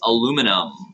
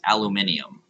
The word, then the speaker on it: aluminium: You go to your periodic table, and it is aluminum. Okay, and if you're Australian, it's aluminium. Oh yeah. Those crazy Aussies adding syllables.